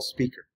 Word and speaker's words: SPQR: real job is called graph QL spqr or pronounced graph QL speaker will spend more time